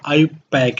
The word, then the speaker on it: IUPAC: जो इसका correct pronunciation है वो आयुपैक है।